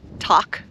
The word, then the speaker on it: Tok: We are getting near Tok, Alaska, which is spelled Tok, T-O-K, but pronounced Tok because it's short for Little Tokyo.